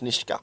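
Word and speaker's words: Nitsche: key i don't know that's how uh all the ept commentators pronounced it over the years n-i-t-s-c-h-e where's the key i don't know i'm pretty sure it's niska okay well anyway this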